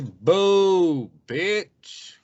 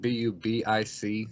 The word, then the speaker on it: Bubic: Is it boo, bitch, or boob itch, or boobich? I would say some people just stray away from it and just say Bubic because it's spelled Bubic. So like the pen or the razors, you can just call it Bic, Bubic.